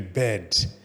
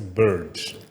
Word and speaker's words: bird: You see the bed. Okay. You see it now? A bed. A bed. But later on I found out that that's not the correct pronunciation. It's not a bed, but it's a bird.